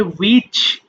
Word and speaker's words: which: তবে এই পরের লাইনে WHICH এই ওয়ার্ডটা অনেকে প্রবলেম হতে পারে, এটা হবে উইচ।